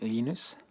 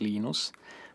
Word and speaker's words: Linus: When I speak Swedish, it's Linus. When I speak Finnish, it's Linus. When I speak English, it's Linus. And I really don't care how people pronounce my name.